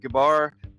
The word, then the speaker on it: Gebar: excited to have today with us uh Scott gabar that is how you pronounce it Scott isn't it yes yep okay